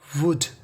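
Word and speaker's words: would: मृत्यु उसकी केवल मृत्यु वुड डब्लू ओ यू एल डी इसे पढ़ते है वुड वुड का मतलब होता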